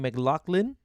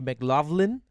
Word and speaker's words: McLaughlin: what we found out in australia they are they are pronouncing his name mclaughlin but of course the normal english way would be mclaughlin so maybe there's an australian